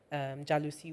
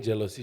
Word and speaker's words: jalousie: Everyone has been saying jealousy. Jalousie. But it's like a French Jalousie.